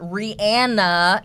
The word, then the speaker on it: Rihanna: We have Rihanna, or Rihanna is the proper way to pronounce this woman's name.